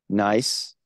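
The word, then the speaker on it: gneiss: so the nicest g-n-e-i-s-s just as s-e-i s-c-h-i-s-t nice is a actually uh term it's referencing a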